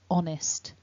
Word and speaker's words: honest: cambridge online dictionary and perhaps the most important thing to notice is there's no h sound it's a silent h